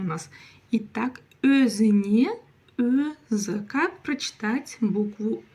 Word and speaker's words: өзіне: Өзіне. Дальше у нас идет буква Е, и вот она как пишется, так и читается.